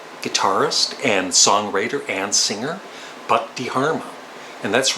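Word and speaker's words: Buck Dharma: From Blue Oyster Cult, I would choose the very underrated guitarist and songwriter and singer, Buck DeHarma.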